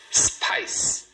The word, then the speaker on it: spice: Spice. Spice. Uma sílaba. Tudo isso para falar uma sílaba.